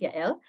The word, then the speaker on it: Yael: This is how it's pronounced, Yael.